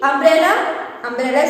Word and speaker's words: umbrella: Here you can see umbrella starts with a and a is a vowel sound of U, so an umbrella.